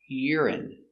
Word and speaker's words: urine: they are the same pronation urine y Ur I Yu urine stress on the first syllable urine urine urine they